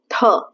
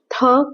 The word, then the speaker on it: थ: जब आप थ बोलेंगे तो आपकी जो टंग है वो टीथ को टच करेगी और एस्पिरेशन के साथ, मतलब हवा के साथ बोलेगी थ थ थ।